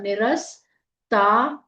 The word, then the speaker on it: निरस्ता: पूरा बोलना है देवता निरस्ता न में छोटी इ की मात्रा पूरा र आधा स निरस ता त दीर्घ जाएगा श में ए की